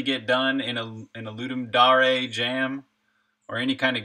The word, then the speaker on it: Dare: Yeah, no, some people apparently Rocket Bunny, the official way to say it is actually Dare.